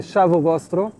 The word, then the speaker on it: ciao: dialecte vénitien plus précisément ça se prononçait et notre guide m'a corrigé correctement c'était Chaveau j'aurais du mal à le prononcer ciao donc votre esclave vous